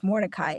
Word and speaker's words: Mordecai: It's with a C. It's Mordecai. Who everyone's like, oh, with a K. No, the only reason I did is because the kids I used to teach can't pronounce Mordecai.